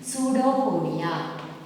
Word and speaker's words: pseudopodia: P is silent here, children. Pseudopodia.